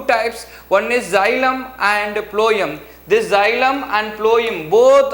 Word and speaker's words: phloem: elements second one is companion cells third one ployum fibers and fourth one ployum parenchyma so while pronouncing the word ployum means ploy m so you have to write